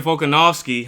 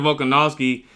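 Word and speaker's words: Volkanovski: Now, in the other uh main event, Alexander Vcanowski, I said his name uh I said his name wrong earlier. Alexander Vulcganowski became the featherweight champion after defeating Diego Lopez uh by decision in the fifth round.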